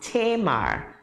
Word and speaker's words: Tama: your name is unique it's spelled t-a-m-a but it's pronounced tamar what what were you